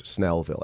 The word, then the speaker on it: Snellville: the snail the bug or snail but it's pronounced snail Ville but it's Snellville s n e l Lille so you guys